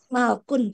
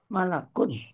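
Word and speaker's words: مَلَكٌ: benda tunggal di kamus malkun Pak. Iya, malakun aja. Malakun.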